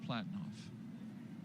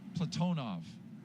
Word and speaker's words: Platonov: and Rosscosmos cosminaut Alleg Platinoff. Platonov. I corrected my pronunciation yesterday and I slipped back into Americanizing.